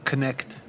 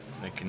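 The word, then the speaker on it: Knecht: e c HT and the way they pronounce it is connect connect conect connect the n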